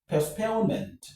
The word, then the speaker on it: postponement: postpone, postpone, postpone, postpone, postpone, postponement. postponement. So, the stress is on pone. So, we have post pone. postponement.